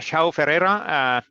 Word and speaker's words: João Ferreira: João Ferreira, I'm really getting good at this, the Portuguese pronunciation.